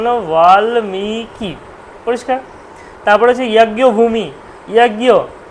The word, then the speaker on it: বাল্মীকি: আসলো মিকারটা দীর্ঘ হচ্ছে, যেহেতু ওয়াটাও দীর্ঘ আর লয়ময় দীর্ঘিটাও কিন্তু দীর্ঘ, তাই জন্য উচ্চারণটা বাল্মীকি, বাল্মীকি, পরের কিটা কিন্তু একদম শর্ট ফর্মে আসবে, তাহলে জন্য উচ্চারণ হলো বাল্মীকি, পরিষ্কার।